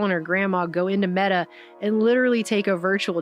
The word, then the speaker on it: Meta: facebook dead because apparently the word meta is pronounced like the feminine form of the hebrew word for dead and so that was